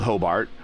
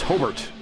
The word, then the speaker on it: Hobart: So there's a town in Indiana called Hobart, but if you live up in the region that Hobart is, it's Hobart. So I'm assuming it's Hobart, his last name. It's not Hobart, but it can't be